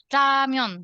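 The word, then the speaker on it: 라면: Jadi agak-agak samar-samar gitulah bunyinya. Makanya aku bilangnya ramyon gitu.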